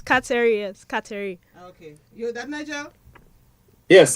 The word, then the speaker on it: Kateri: got it correct the first time it's katarius Cattery okay so that Nigel yes Scotty you heard